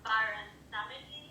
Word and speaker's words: Baron Samedi: But instead of Papa Legba, she was strict and actually she summoned Baron Samedi.